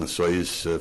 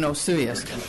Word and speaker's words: Osoyoos: There is no soy in Osoyoos.